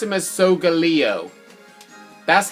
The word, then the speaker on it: Solgaleo: But really, you pronounce him as Solgaleo.